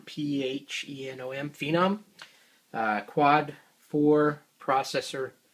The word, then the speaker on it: Phenom: i purchased a amd i guess you pronounce it phenom p h e n o m phenom uh quad four